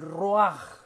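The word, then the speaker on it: רוח: el aliento de vida en hebreo esto se escribe esto se dice el rua es más el espíritu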